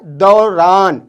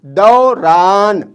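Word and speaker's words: دوران: दौरान, दाल वाव रे अलिफ नून, दौरान, दौरान। दौरान का इंग्लिश मीनिंग होता है ड्यूरिंग, दौरान का इंग्लिश मीनिंग क्या होता है?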